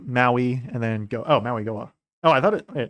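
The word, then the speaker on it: Mauigoa: I was saying his name wrong the whole time. Maui Goa. There we go. I could have sworn I heard them pronounce it with an N in there, but maybe not.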